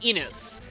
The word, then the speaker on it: Innes: And yes, as of recording this, I now know this is pronounced Innes.